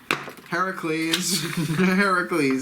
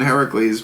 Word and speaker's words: Heracles: Heracles, Heracles, original Greek pronunciation, Heracles, please.